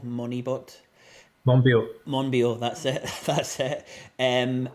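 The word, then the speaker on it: Monbiot: rupert reed and george um i can never pronounce his second name moneyball moneybot monreal monbio that's it that's it um and yeah you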